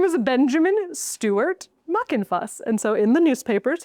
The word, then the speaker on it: Muckenfuss: I have to be very careful where I place the F as I pronounce this, because her name was Rosalie Muckin Fuss. Muckin Fuss.